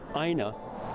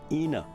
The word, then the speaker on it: Ina: her more than and people calling her AA instead of the her correctly pronounced name Ena and here we are uh 50 years after her death honoring her by mispronouncing her name she homesteaded on a